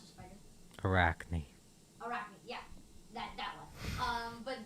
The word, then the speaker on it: Arachne: How do you pronounce the spider? Arachne.